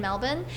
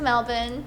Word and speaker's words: Melbourne: show but it's like Paco's um concert in Melbourne and uh I feel really lucky cuz every